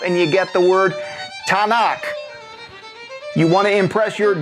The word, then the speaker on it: Tanakh: And you throw in a few syllables between the Tau, Nun, and the Kaf, and you get the word Tanakh.